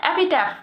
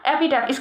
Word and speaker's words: epitaph: तो 1 word substitution है, इसके लिए जो एक वर्ड होगा वो है एपिटैफ। क्या? एपिटैफ। इसकी स्पेलिंग याद करेंगे हम, EPITAPH। क्या? एपिटैफ।